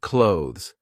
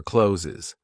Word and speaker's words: clothes: Consonant clusters. Eg clothes. Some people say it like clothes or closes.